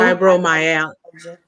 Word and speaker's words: fibromyalgia: How do you pronounce that word? Fibro fibromyalgia.